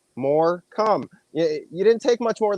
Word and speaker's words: Morcombe: pick on me and split into two syllables and you can figure it out pretty easily more come you didn't take much